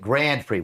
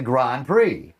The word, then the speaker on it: Grand Prix: It's a Grand Prix, but no one ever says it like it's a fancy French thing. They say it like it's the Grand Prix.